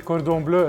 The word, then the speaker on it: Cordon Bleu: And you say it correctly, Cordon Bleu.